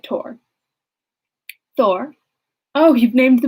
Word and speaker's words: Thor: She pronounced it Tor.